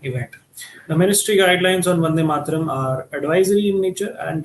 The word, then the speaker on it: Vande Mataram: It's pronounced Vande Mataram.